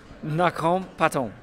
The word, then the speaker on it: Nakhon Pathom: to get to your hometown sorry I can't pronounce it what is it again no hard butthole knock home Patton yes okay all right okay so how long